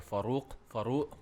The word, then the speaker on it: Farouq: Farouq? Yeah, Farouq. Oh, so it's not like Keenan. Keenan. That's how he pronounced it. Keenan. Really? No, he says Kenan. No, he says Keenan. Keenan. No. Keenan. No, he doesn't. Well, sounds like well, this actually, it's Farouq.